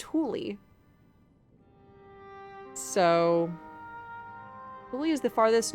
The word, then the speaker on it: Thule: So there is a company named exactly spelled like this, Thule, and it's pronounced Thule.